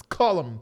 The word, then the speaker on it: Cullum: And you do know now, as of March, Jacqueline Cullum. That's her last name. They want to make sure I say it like that because her stage name is Clark Chisholm, but it's Cullum Chisholm.